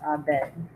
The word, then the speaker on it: Abed: it's spelled Yes, ID, good. but it's pronounced Abed.